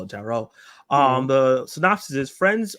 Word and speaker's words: Tarot: pronounce this film because I was saying tet this whole time not realizing is actually tarot because you know I never heard the word outside of other people saying to call it Tarot um the synopsis is